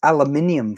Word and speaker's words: aluminium: for cooking and baking aluminum yeah exactly it's aluminium foil we go the whole way we pronounce that oh it's just easier